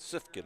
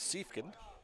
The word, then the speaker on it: Siefkin: ball one to siefkin I was pronouncing it sifkin earlier but I was corrected Lance siefkin so I apologize for